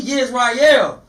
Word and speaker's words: Yisrael: When you say Israel, you know, that's broad. Right. You know what I'm saying? We Yisrael. Right. You know what I'm saying? We're going to pronounce it correctly because everybody not out here claiming to be Yisrael.